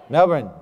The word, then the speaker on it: Melbourne: Melbourne. Melbourne. It's actually easier if I just say Melbourne, y'all. But just think about this. According to Wikipedia, 8.9% of the world now lives here. In Melbourne alone, 180 nations of people, their people have